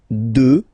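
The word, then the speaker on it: deux: 2. Final X not pronounced, okay?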